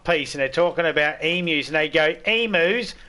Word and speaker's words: emu: care about how um emus said because it's emu it's we actually pronounce the U on the end of it so it's you but the amount of people that'll say e moo it's like where's the